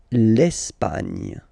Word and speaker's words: Espagne: L'Espagne. Okay, don't insist on the final E because basically it's not pronounced.